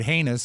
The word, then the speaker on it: heinous: thought that one of the charms of the word heinous is the fact that it rhymes with anus and destard what Amos